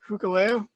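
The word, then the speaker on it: Hikuleo: how do you say this james hooker leo hookahleo okay uh and el phantasmo versus sting darby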